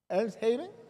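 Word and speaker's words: Elmshaven: esta casa en hermano, ¿cómo se dice? El Haven. Els Haven. Ah, esa es.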